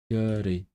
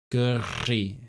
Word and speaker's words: gyrru: And for one, I hate driving, but also gyrru. It's so hard to say, especially when you can't trill your R's. Gyrru.